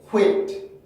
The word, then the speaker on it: quit: 그럼 제가 발음을 들려드릴게요. quit, quit, quit, quit, quit, quit, quit, quit, quit, quit, quit, quit, quit, quit, quit, quit, quit, quit, quit, quit, quit.